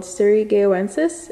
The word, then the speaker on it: surigaoensis: favorite hoyas it's a large leaf hoya called surigaonsis if you know how to pronounce it properly feel free to let me